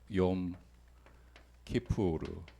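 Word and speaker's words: יום כיפור: 어이 대속제일을 어 원어로 하면은 뭐 요렇게 발음이 돼요. 용 키푸르 이게 날이라는 뜻이고 키푸르가 어 뭘 덥다라는 뜻이에요.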